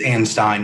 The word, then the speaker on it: Anstein: for me uh mr is it anstein how do you pronounce that it's ann stein your honor einstein all right mr